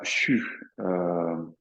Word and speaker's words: xu: CHU, donc ça s'écrit XU.